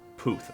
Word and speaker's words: Puth: He's got a name that sounds wrong to me no matter how I try to pronounce it. He's Charlie Puth? Charlie Puth? Puth. Okay, Puth. Charlie Puth.